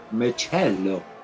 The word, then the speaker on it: Michello: He said Michello.